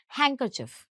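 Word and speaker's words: handkerchief: इसका प्रोनंसिएशन होता है हैंकर। काइंड ऑफ हम डी को साइलेंट कर देते हैं। डी को उतना अच्छे से प्रोनाउंस नहीं करते। हम कहते हैं हैंकरचिफ।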